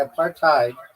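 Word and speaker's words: apartheid: followup why aparthide is why a part tide is not pronounced a because it's not not an English word originally. It comes from African and in that language hide is pronounced like hate or height not head or hid.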